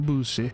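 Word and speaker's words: Debussy: It's by the Boosie. That's how you say his name.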